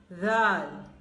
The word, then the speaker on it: Zal: Then this letter is pronounced. Right. Zal. Zal. No buzzing sound.